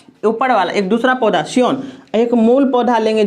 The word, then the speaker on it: scion: और यहाँ इसको ऊपर वाला जो दूसरा पौधा था इसको सियोन कहेंगे, SCION। ठीक है, साइलेंट रहता है।